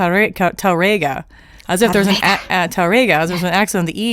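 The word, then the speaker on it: Tárrega: they said uh T TGA as if there's an TGA there's an accent on the E but there's no accent it's on the a so it's TGA I not even Spanish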